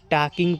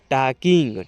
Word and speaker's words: talking: ठीक है, इसको अब टाकिंग पढ़िएगा, टालकिंग नहीं पढ़िएगा। यहाँ पर जो एल है यहाँ पर साइलेंट रहेगा, एक हम साइलेंट आपको क्लास करा देंगे। ठीक है, इसको पढ़िएगा आप टाकिंग।